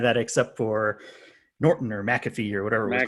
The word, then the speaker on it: McAfee: Well, so it's named after John McAfee, and I believe I've heard him pronounce his own name as McAfee.